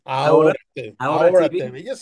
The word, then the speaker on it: Ahora: It's not Ahora because I know you guys pronounce the Right. H, but we it's silent. Ahora, Ahora TV.